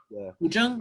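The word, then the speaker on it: 古筝: So I could sample something like a guzheng, for example, and I loved the sound of a, is that how you say it? Guzheng or guzhen? It's like guzheng.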